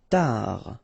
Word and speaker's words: tard: Tard. Final D not pronounced.